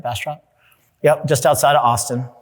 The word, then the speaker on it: Bastrop: Did I pronounce that right? Bastrop?